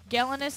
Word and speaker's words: Galenus: Galenus is looking for a bassist and a drummer. Galenus? I was pronouncing it wrong and I just realized it 2 days.